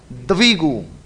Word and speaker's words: द्विगु: है, द्विगु होता है, द्विगु। हाँ अपन क्या बोलते हैं, व की तो रेल बना दी अपने, जबकि मात्रा है किसकी, वी है, दी नहीं है, इसलिए उच्चारण होता है द्विगु, ये ध्यान रखिएगा।